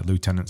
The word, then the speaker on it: lieutenant: Lieutenant's American. If you're British, it's lieutenant. Yeah, but there's no F in it, though. And actually, I think you'll probably find if you consult like Webster's or Oxford English Dictionary, you'll find that both pronunciations are probably accepted.